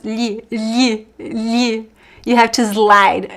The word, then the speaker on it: lhe: Lhi, lhi, You have to slide. Lh The The You have to touch your tongue on the top of your mouth and then slide it.